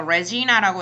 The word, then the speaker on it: Regina: So Jane decided to understand Regina by looking at Regina라고 읽으시면 제 학교고요. 이거 레지나라고 읽으셔야 돼요.